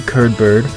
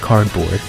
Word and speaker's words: Curdbird: I'm not gonna lie to you, I did use a Chao Garden editor to make Curdbird, my golden Chao whose name is not pronounced cardboard, an absolute beast.